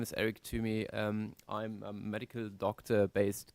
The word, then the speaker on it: Tuomi: Did I pronounce it correctly? Yeah, more or less. Tuomi.